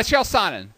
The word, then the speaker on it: Chael Sonnen: Is that how you pronounce his name? Yeah, Chael Sonnen.